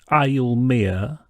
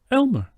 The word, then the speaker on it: Elmer: no it's pronounced Bernstein do you also say I'll Mia no Elmer well why is it I'll Mia Bernstein it isn't it's Elmer Bernstein I see okay folks